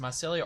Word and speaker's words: mycelia: found forms of catalyst mycelia actually I'm not sure if it's pronounced mycelia or Mike Elia it's mycelia okay dependent cells ferociously used